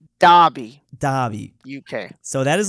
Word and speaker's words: Derby: Derby, Derby Derby, UK, which and is pronounced Derby, Derby.